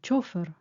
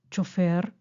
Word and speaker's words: chofer: Podemos escribir: nos llevó el chofer o nos llevó el chofer. Depende de la pronunciación. Si es aguda, chofer, o llana, chofer.